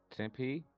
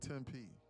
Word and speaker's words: Tempe: Is it temp or is it 10p? 10p. First or second one? What's the second one? 10p. Yeah, it's 10 p.